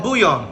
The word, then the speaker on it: bouillon: Oh, bouillon.